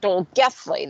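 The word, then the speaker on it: Dolgellau: a town in wales called dolgethley that's how you pronounced it but let me tell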